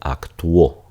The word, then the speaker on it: actuó: dos vocales lo mismo Tenemos aquí con actuó por ejemplo ella actuó en la última película de X son solamente dos sílabas porque esta es una Wa mientras que aquí actúo yo acto en una película de X serán tres sílabas porque la u y la o se van a separar Entonces esta es la